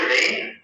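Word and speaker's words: reign: এটা রেইন উচ্চারণ হবে, জি এর উচ্চারণটা হবে না। তাহলে রাজত্ব করার ইংরেজিটা হচ্ছে রেইন।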